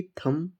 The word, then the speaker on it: thumb: जैसे THUMB थम, इसको थंब नहीं थम पढ़ते हैं।